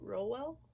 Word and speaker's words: Rowell: But that is the sequel to Carry On by Rainbow Rowell. It's called Wayward Son. I definitely said her name wrong. Rainbow Rowell? Rowell.